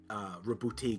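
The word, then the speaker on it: Roboute: This is why we got, Rabute Gilliman. Yeah, because they instead of Rabut Gilliman, which is what he should be called. Yeah, they're using the French pronunciation for it.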